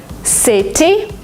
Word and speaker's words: city: In American English, if you have a letter T in the middle of a word, sometimes you pronounce it as D. Letter, letter. Letter? Because it's faster, because it's smoother. City, you don't say it.